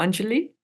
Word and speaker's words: Angeli: And I think in Gujarat, in India, you would pronounce it more Angeli.